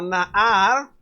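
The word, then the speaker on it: נער: Esta palabrita se pronuncia como Nahar. Nahar, esa palabra es muy importante, hermanos.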